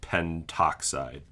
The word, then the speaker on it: pentoxide: But like the A and O, you just combine it into an O sound. And I guess O wins the tug of war for which syllable vowel wins out. So dinitrogen pentoxide.